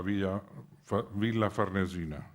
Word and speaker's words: Villa Farnesina: años después, y a la Villa Farnesina, lo pronuncio a la italiana.